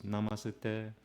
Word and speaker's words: namaste: So it's namaste, and it's pronounced, as you can see from the line, it's monotone. You don't go up and down in your tone. It's a monotone sound.